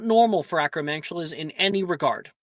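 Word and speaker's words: Acromantula: Acroantula.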